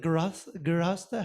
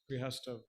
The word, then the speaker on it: grihastha: what is the purpose of sex and family and so forth, is it grihastha? How do you say family, household, or life? Yes. Yes. Grihastha.